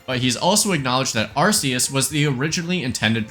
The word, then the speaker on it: Arceus: If we do that, it becomes clear that its Japanese name isn't pronounced with a K sound. Pokemon Legends Arus.